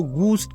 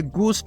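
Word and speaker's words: ghost: बहुत से दोस्त यहाँ पर एक गलती करते हैं और वो इस लफ्ज को गूस्ट कहते हैं। तो दोस्तों ये गोस्ट नहीं है, इसका सही प्रोनाउंसिएशन गोस्ट है और इसका मतलब है भूत यानी जिन्नात।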